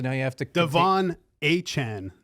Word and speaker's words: Achane: Waddle's back, so now you have to Devon Achane, not A-Chain. That's what wants to be pronounced A-Chain.